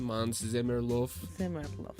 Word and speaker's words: Måns Zelmerlöw: Do you remember how to pronounce that name? Måns Zelmerlöw.